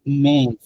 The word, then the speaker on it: mais: সো MAIS normal যে থ্রেমা ছাড়া সেটা হচ্ছে উচ্চারণ মে, মে মানে হচ্ছে বাট, কিন্তু মে বাট।